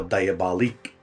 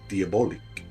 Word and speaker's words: Diabolique: about is diabolic or diabolique depending on how you want to pronounce it because it's spelt in the french way diabolique or diabolique and i'm